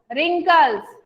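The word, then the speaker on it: wrinkles: एन के lace रिंकल्स अब आप लोग सोचोगे इसकी स्पेलिंग व्यक्ति रूह है और मैडम रिंकल्स क्यों बोल रही है इसमें जो है ना वह साइलेंट है मैं आपको इस पोयम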